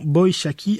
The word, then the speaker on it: Boishaki: Est-ce que je prononce bien en disant Boishaki, Harry ? Oui, c'est très juste. Bravo, bonne prononciation.